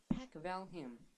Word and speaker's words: Pacvalham: Pac as in Pac-Man. as in a valley. But minus the E part. And ham as in Pacvalham.